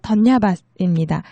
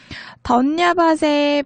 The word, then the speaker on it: धन्यवाद: 네팔어로 던야밭입니다. 던야밭 하고 얘기해 주시면 되는데요. 던야밭의 밭, 비읍 자음 있잖아요. 이 자음이 이응처럼 들리는 그런 발음인데 사실 제 발음으로 따라하는 것보다는 현지인의 음성을 듣고 따라하는 게 더 좋겠죠.